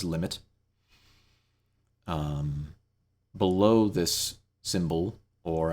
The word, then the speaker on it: lim: call uh you know we write it as lim we pronounce it as limit um below this symbol